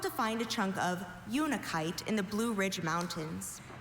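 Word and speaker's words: unakite: Unikite. This is the only pronunciation.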